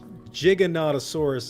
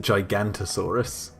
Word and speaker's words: Giganotosaurus: know we say i say giga but like giganotosaurus is how i always pronounced it growing up i used to pronounce it gigantasaurus you were yeah i know i was very